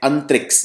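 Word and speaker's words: Antrix: आपको याद रखनी है इसको बोलते हैं अंतरिक्स ये है इसरो की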